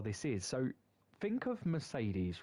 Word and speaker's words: Mercedes: We pronounce the E in Mercedes three times differently.